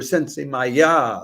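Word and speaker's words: Sensemayá: consisting of sylvestra Ras sensea or sense Maya there's a an accent on the last a WC's petite sweet uh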